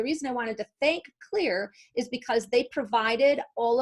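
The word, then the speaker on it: Xlear: that that's clear yes it's pronounced clear even though it's X le AR and they're done line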